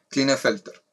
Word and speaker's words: Klinefelter: síndrome de kleine en el first air se pronuncia klinefelter ya está utilizo mías significan que tienen tenemos